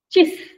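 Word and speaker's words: cis: Jadi kalau next time macam rasa nak marah tu gunakan cheese. Ha tapi ingat ejaan dia adalah C I S bukan C H E E S E. Cheese.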